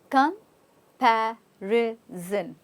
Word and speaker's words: comparison: comparison again okay it's compar Zen now s o n is not Sun here it's zen zen okay we using it as a z that's why we're here